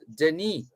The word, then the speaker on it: Denis: And he says, yes, Denis. Right. He's confirming that is how his first name is pronounced.